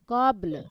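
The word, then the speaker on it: قبل: হা জাল্লাযীরু জিক নামি কব কবল, কবল, লাম উচ্চারণ হবে কবল। কবল হুম, কবল কবল ঠিক আছে, পড়েন।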